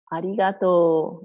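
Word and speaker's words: ありがとう: Arigatou.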